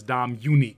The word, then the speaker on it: Dominique: one more s and just think of her as dom unique because she's unique no okay i am